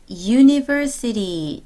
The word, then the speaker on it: university: 대학교 같은 경우에 university. 자, 철자 U 보지 마시고요. 발음 보세요. 자, 요거 이 소리 나지만 자음 발음입니다.